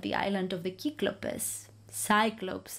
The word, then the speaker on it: Cyclopes: He explains how he ended up at the island of the Cyclopes, Cyclopes as they are pronounced in English.